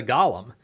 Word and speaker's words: Golem: how you define artificial intelligence like hey the gollum um or Golem depending on how you want to pronounce that uh but when you get past